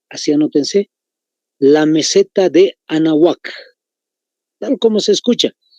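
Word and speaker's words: Anáhuac: anótense, la meseta de Anahuac, tal como se escucha. Hay una H intermedia incluso. Es como el nombre de una dama, Ana, viene la H intermedia juntito y termina U-A-C, C de casa. Anahuac, así se pronuncia entonces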